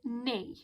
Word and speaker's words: knee: one this word is knee okay now even though it's got to kick and cur here it's got a k it's that's a silent letter so that means that we don't pronounce we don't say that